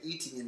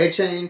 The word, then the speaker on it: Etienne: I know we've been saying Etienne his whole career, but is it A-Chain too, right? So ETN. It is yeah, no, it's A Chain.